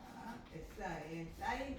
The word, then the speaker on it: sin: 사인 원래 SIN인데 이걸 신이라고 읽지 않고 사인이라고 읽습니다.